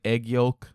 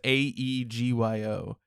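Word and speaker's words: 애교: like I don't know it's kind of like egg Yol like egg yo it's AE G yo um yeah uh not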